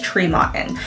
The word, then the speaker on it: Tremonton: I know it's spelled Tremonton, and a lot of people pronounce it that way, but it is Tremonton, and that's one of Utah's hidden gems up north.